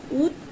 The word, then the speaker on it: উজ্জ্বল: উজ্জ্বল। আমরা কি উচ্চারণ করছি? উজ্জ্বল করছি না। তাহলে দেখো এখানে কিন্তু আমাদের যে বটা আছে অন্তস্থ ব, সেটা অনুচ্চারিত থাকছে।